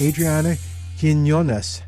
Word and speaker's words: Adriana Quinones: Our guest today is from the Arburitum SA Arboritum San Antonio and her name is Adriana Kinonas. How did I do on the pronunciation, Adriana?